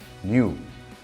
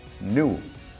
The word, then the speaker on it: knew: De to know, saber, el pasado irregular sería knew o knew. Ambas pronunciaciones son válidas.